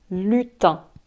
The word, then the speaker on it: lutin: lutins de noël un lutin lutin ça s'écrit l ut i n mais irene se prononcent 1 donc on dit un lutin et les lutins